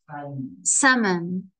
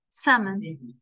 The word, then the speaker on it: salmon: one for us salmon so the sa man the L is silent the L is silence yep why I don't know the L was silent salmon it's just English yeah